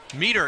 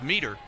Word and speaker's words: Meter: Meter is the pronunciation. I was pronouncing it like J.J. Metters, but it's Meter.